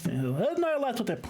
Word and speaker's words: Nyarlathotep: It's Nyarlathotep, okay. Too many syllables.